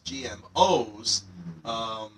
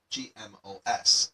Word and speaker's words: GMOs: Sometimes I'll see students in this sort of situation read it as GMOS. No, that would be wrong. It should be GMOs. The S small at the end just makes the abbreviation plural.